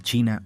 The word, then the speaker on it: Qi: de la medicina tradicional China o mtc considera al cuerpo como una intrincada red de vías interconectadas conocidas como meridianos estos meridianos sirven como conductos para una energía vital llamada I pronunciado chi según la mtc el